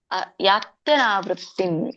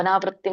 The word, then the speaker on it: ಯಾತ್ಯನಾವೃತ್ತಿ: ಕೃಷ್ಣ ಮಾತಾಜಿ ಏಕಯ ಏಕಯ ಯಾತ್ಯನಾವೃತ್ತಿ ಯಾತ್ಯನಾವೃತ್ತಿ ನೋಡಿ ಅಲ್ಲಿ ಅ ಕೇಳಿಸಬೇಕು ಅನಾವೃತ್ತಿ ಅಂತ ಅಲ್ಲ ಯಾತ್ಯನಾವೃತ್ತಿ ಯಾತ್ಯ ನೋಡಿ ಅಯತ್ಯನಾವೃತ್ತಿ ಅನ್ಯವರ್ತತೆ